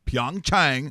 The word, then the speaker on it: Pyeongchang: and you go to see you go to Pyeongchang because that's apparently how you say it and